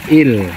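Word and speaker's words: eel: dalam bahasa inris Inggrisnya tulisannya e e l ya atau Il bacanya Nah itu kalau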